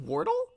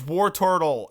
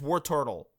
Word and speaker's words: Wartortle: could be please maybe is it pronounced wartle it's War Turtle everyone knows that well I'm say you're the only one that doesn't know you're a shitty Professor it's war turttle three syllables no yeah no yeah